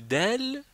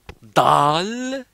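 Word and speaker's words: دال: Quand on passe quand on prend le del, c'est-à-dire que bon, je veux dire que ça c'est del et ne prononcez pas dal. Non, il n'y a pas de dal, il faut dire del comme ça.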